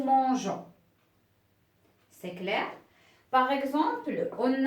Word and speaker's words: mangeons: nous nous mangeons alors si j'écris de cette façon ça devient c'est nous mangons donc c'est faux je dois je dois ajouter un petit peu avant et ça devient nous mangeons c'est clair par exemple